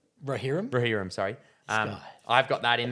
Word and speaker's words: Rohirrim: Rohirrim? Rohirrim, sorry.